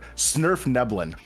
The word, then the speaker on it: svirfneblin: Surf Neblin. Snurf Neblin.